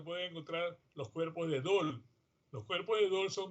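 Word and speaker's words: Döhle: hay cuerpos de Dol, se escribe Dole, se pronuncia Dol, en los glóbulos blancos.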